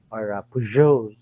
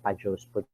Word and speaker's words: Peugeot: Nilagay pa nga ng Peugeot yung kanilang pronunciation dun sa kanilang building para pagpasok niyo hindi kayo tatanga-tanga at sinasabi, ano yung Pajos, Pajos, ganyan.